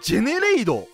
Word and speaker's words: ジェネレイド: ですが皆様ジェネレイドというデッキ御存知でしょうかこのまあ王と書いてジェネレードって読むんですけども